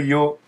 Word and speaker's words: Ё: y mouillé donnera un y donc voilà le yo avec le grand E TR en majuscule d'imprimerie